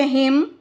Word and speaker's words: hymn: जब ये एम के बाद आता है तो ये साइलेंट हो जाता है। ठीक है? यहां पे हिम column autumn solemn.